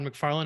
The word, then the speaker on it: McFarlane: I do my little introduction let me just pronounce the names make sure I get them right Todd McFarland and Greg capulla that's us perfect I just